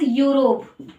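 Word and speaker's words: Europe: यूरोप, ये spelling तो ई से शुरू हो रही है पर साउंड यू का दे रही है, यूरोप। यस, इसको हम यूरोप नहीं पढ़ेंगे, यूरोप नहीं पढ़ेंगे बच्चों, गलत प्रोनाउंसिएशन नहीं करना।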